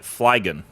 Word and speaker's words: Flygon: May be a combination of fly. Whoa. And dragon. Dragon. No way. Which means that we should be pronouncing it Flygon.